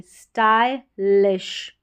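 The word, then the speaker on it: stylish: ST को स्ट पढ़ेंगे, Y है इसको I करके प्रोनाउंस करेंगे, स्टाई, स्टाइलिश, LISH।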